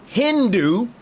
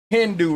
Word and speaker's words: Hindu: So the word Hindu, remember, the H is silent.